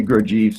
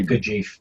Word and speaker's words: Gurdjieff: I say Gurdjieff. Some people say Gurdjieff.